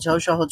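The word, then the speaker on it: ث: যে দাঁত দুইটা থাকে যেটা হাসলে দেখা যায় সেই দুইটা দাঁতের সাথে একটু লাগান হ্যাঁ লাগিয়ে একটু উচ্চারণ করার চেষ্টা করেন তো নরম করে শক্ত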